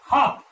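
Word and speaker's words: half: Next word चले तो यहां देखिए एच ए एल एफ, हाफ, यहां पर भी क्या है, एल जो है साइलेंट है, तो यहां पर हाफ, इसका प्रोनाउंसेशन हाफ यानी होता है आधा, ठीक है।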